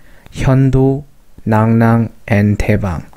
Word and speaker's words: 樂浪: They set up three commanderies and called Hyeondo, Nangnang, and Taebang. Actually, it's pronounced like Nangnang.